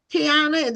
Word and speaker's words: Kyina: So, Kiana, did I pronounce it correctly?